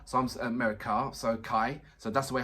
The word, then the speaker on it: Kai: I had a gentleman saying it's pronounced as car, so I'm Car, so Kai.